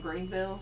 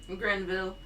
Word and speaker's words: Grenville: Soon after Grenville returned, I want to keep saying Greenville. It's probably where Greenville came from. Probably. Because it's spelled Grenville. Yep. Just like Ille. Greenville. Yeah. Veal. Greenville. Grenville. When he returned, he did